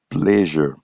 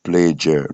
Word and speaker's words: pleasure: Vision vision comme world vision par exemple vision on a pleasure pleasure plaisure not pleure non pleure non plaure pleasure et nous avons ensuite